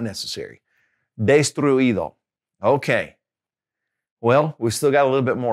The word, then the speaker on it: destruido: Okay, if it's a verb that ends with U-I-R, okay, then you don't have to put an accent on the I. Here's an example. Destruir, to destroy. Destruir, okay? So that past participle will be destruido. So we don't really have an accent there, all right?